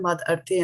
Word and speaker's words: mad-arthe: Now, if we take the word mad-arthe and split it into two, right?